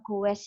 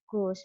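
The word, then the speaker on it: goes: maka dia jadi Ghost Tapi bacanya bukan Gowes ya tetapi Gus misal terus ada kata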